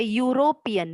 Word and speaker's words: European: बट जब हम इसको बोलते हैं यूरोपियन, य से शुरू होता है, वाई, ये एक व्यंजन है, तो यहाँ पे इसका उच्चारण य से शुरू हो रहा है, जो कि कॉन्सोनेंट है, व्यंजन है, इसलिए